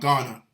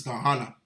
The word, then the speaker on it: Gehenna: I believe it's supposed to be pronounced Gehenna, something to that equivalent, not Ghana. So I was wrong with that. It's Gehenna.